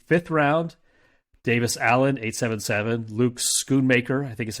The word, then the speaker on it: Luke Schoonmaker: Luke Schoonmaker, I think is how you pronounce his name, 9.75.